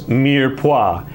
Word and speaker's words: mirepoix: what is mirepoix what is mirepoix they even pronounce it right you did you did great what is mirepoix and you can't say a funny word so what is mere pois as well wait for the phone to ring